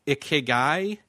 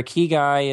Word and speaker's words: ikigai: I'm trying to figure out how you pronounce it. Is that ikigai?